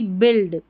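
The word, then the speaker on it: build: और बी आप ऐसे ही याद रख लें कि बी यू आई एल डी बिल्ड।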